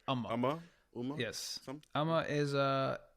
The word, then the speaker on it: Umma: Umma.